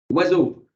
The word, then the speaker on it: oiseau: qui se prononce normalement le O ne se prononce pas o le i ne se prononce pas i le ce se prononce